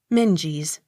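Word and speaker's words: Menzies: z i e s minges accent on first syllable m e u x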